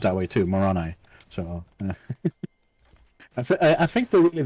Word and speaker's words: Moroni: who invented the religion, is called Moroni, and pronounced that way too, Moroni.